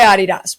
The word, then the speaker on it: Adidas: be who uh but we go by Adias but that's the original pronunciation of it from the uh from the original Founders the German Founders but also Adidas so what did Adidas